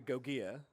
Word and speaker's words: Goia: You can pronounce my name however you'd like, but it's actually Goia.